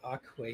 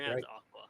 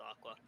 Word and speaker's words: Akua: Um, so we obviously heard about Aquay stats. Um, pretty impressive. Aqua. Yeah, just just to be sure it's pronounced Aqua. Huh? It's pronounced Aqua like the word for water. Aqua.